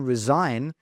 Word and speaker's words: resign: So it's silent in resign.